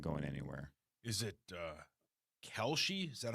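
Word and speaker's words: Kalshi: Is it Kelshi?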